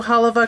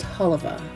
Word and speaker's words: Halawa: the valley is that it's pronounced haliva huh with a V instead of a w so hopefully I got